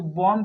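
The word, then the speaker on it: bomb: तो जैसे देखिए बॉम्ब है ना, तो बॉम्ब में ये बी साइलेंट है, कॉम्ब में बी साइलेंट है, थंब में भी साइलेंट है।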